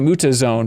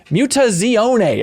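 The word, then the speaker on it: Mutazione: game uh muta zione I've been calling it muta Zone but is muta zione apparently is how do you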